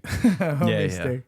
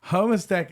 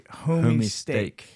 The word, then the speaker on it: Homistek: Homistek is wrong. It's actually Homistek. It's like the love steak you eat when you're like with your boys.